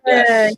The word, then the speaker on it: Noriega: Noriega.